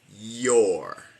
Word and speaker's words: you're: Es porque no se pronuncia your. Sé que es you are cuando está separado, pero cuando está contraído no suena you, suena yo, your.